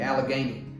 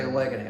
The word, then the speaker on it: Allegheny: gec number 97 pattern this is the Allegheny I always want to say Allegany I never learned how to pronounce Allegheny but I think that's right so this is a